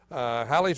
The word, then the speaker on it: Halley: And Halley was the proper pronunciation.